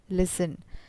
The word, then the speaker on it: listen: pronounced rondu the word allias t n is pronounced listen so pronunciation has to do with the sounds